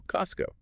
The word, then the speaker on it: Costco: Take Costco. That T sound gone because it's stuck between two other consonant sounds. S and C. So Costco.